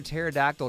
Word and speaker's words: pterodactyl: Why can't you hear a pterodactyl go to the bathroom? I think I know, but I'm going to let you tell me anyway. Because the P is silent.